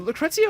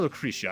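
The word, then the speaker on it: Lucrecia: Also, is it Lucrezia or Lucretia? I forget which pronunciation they use the most in the other stuff. I've always said Lucretia.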